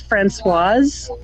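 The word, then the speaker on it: Françoise: It's Francoise with an S. So if it's a male, it's Francois, which is Frank, you know. And if it's a female, you pronounce the S.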